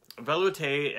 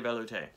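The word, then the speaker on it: velouté: chicken base okay so think of a valet that's a chicken so you drive up you're driving up to the restaurant and there's a chicken valet that's trying to take your keys and drive you somewhere right chicken valet valet valute vale veloute next up is espinol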